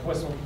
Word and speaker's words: Poisson: variable that we're going to test with our Poisson, which I pronounced poorly, I'm sure. Yes, thank you. How should it be pronounced? Poisson.